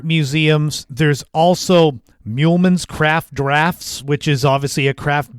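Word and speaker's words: Draughts: Dr u g HTS so droughts but it's pronounced drafts there's English for you but the main thing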